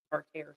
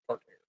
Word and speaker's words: tartare: Actually pronounced tartare sauce. Wouldn't there be a trip? Not tartar, it's tartare. And wouldn't it be some